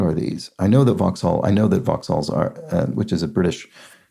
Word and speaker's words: Vauxhall: I know that Vauxhalls are, which is a British car make, and looks like it should be pronounced Vauxhall, but it's not. It's Vauxhall.